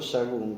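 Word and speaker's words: Sahagún: Mi nombre real es Sagún, que se escribe S-A-H-A-G-U-N.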